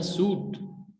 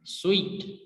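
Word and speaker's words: suite: इसको मिसप्रोनाउंस किया जाता है सूट. अटैचमेंट, अटैच रूम को बोलते हैं. तो ये इसकी करेक्ट प्रोनाउंसिएशन क्या है, स्वीट.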